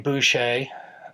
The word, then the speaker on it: Boucher: India exploiting an elephant so you pronounce my name Boucher that should not be too hard to remember if you see my name